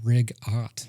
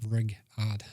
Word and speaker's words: rigatoni: It's rig-ot, not rig-odd.